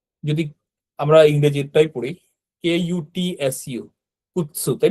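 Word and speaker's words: くつ: তো দেখেন যদি আমরা ইংরেজিটাই পড়ি, KUTSU, কুৎসু, তাই না? তো এটাও একেবারে জাপানি ভাষায় সেম জিনিস, কুৎসুই হবে, কুৎসু। তার মানে এই সুটা কুসু এরকম হবে না, কিন্তু এটা কুৎসু হবে। এই টিটা তখন উচ্চারণের মধ্যে চলে আসবে।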